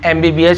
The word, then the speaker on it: MBBS: है, तो ये होगा उच्चारण M, ये देखिए इसका उच्चारण हो रहा है M, और चूंकि यहां पर A है तो देखिए आप A क्या है, स्वर है, तो देखिए नियम में था स्वर है तो N का उपयोग होगा, N MBBS स्टूडेंट